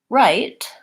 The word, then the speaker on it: right: then we have also in the word right we have the gh sound and it doesn't make any sound in this word so I could really leave that out because there's no sounds for it so those are